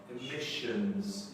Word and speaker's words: emissions: And the two S's together sounds like a sh. Emissions.